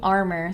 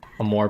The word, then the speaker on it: Amour: People used to call me Armor, so. I know. Oh, I think I was in a stream where we talked about all the mispronunciations of just the Amour part.